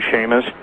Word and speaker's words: Chamish: Yes, and interestingly enough, really interestingly enough, I don't know if you've ever read any of Barry Chamish, C-H-A-M-I-S-H, or some people pronounce his name Shamish, from Israel, but he's